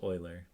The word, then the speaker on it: Euler: It looked like it looks like Euler, but it's actually pronounced Euler.